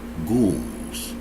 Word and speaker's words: ghouls: The European grand body politics of the Ku Klux Klan order are called ghouls, or G-O-O-L-S, ghouls, but it's spelled G-H-O-U-L-S, but pronounced ghouls, G-O-O-L-S.